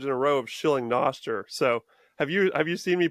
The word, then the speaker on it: Nostr: or 3 episodes in a row of shilling Noster.